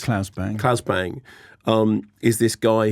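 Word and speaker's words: Claes Bang: In The Square, Klaus Bang, is it Klaus or Klaus or however you pronounce it? It's Klaus Bang.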